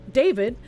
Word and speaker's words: d4vd: David, pronounced David, gained popularity among young fans for his blend of indie rock, R&B, and lo-fi pop.